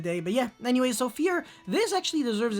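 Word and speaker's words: Vier: It's Fear. It's a German word, so don't really ask me.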